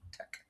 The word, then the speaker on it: TeX: So he could pronounce it tech, like in technology, tech, with a K or a CH sound.